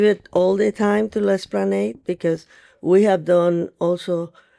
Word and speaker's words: L'Esplanade: L'Esplanade.